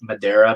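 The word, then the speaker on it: Madureira: phonetically when people tell me as a she pronounce Madera but that's whatever I love his art I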